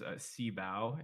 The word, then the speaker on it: SYBAU: The only one I know you got wrong was the SYBAU is CBAU is how you say it.